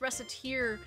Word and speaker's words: Recettear: just mildly disturbed because if you pronounce reciter incorrectly it sounds like racketeer as in racketeering how is it possible